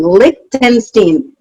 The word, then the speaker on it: Lichtenstein: you say your name lichtenstein lick like lick lollipop lick tinstein lick tin lick ken steen lichtenstein i'm good at that